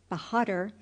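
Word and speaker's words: Bahadur: pronounced exactly in English it sounded something like this yankai bad with the accent on the last syllable bahad and the a sounded like a in hark this was as near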